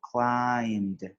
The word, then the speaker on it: climbed: We just say climbed, no B, climbed.